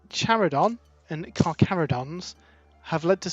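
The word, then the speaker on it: Charadon: chimera led me to believe that charidon is pronounced caridon but then that's really close to caradron and yeah we've had we've had similar conversations where it all gets a bit messy but yeah apparently charidon is the pronunciation we need we need a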